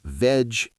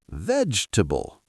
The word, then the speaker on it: vegetable: Yes, we don't say veg-e-ta-bull. So how do we say it? Vegetable. We skip the second E.